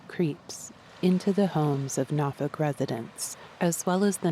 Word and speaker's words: Norfolk: I don't live in Nafug. Matter of fact, residents had to teach me to pronounce it. It's spelled N O R F O L K. But I've been instructed to pronounce it Nafuk, though really people from different parts of the